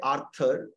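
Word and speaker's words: Arthur: এবং তোমরা নিশ্চয়ই জানো নামটা খুব অদ্ভুত ইংরেজিতে যদি দেখো তাহলে মনে হবে আর্থার কিন্তু ওরা বলে আর্থুর আর্থুর আখতুর এরকম করে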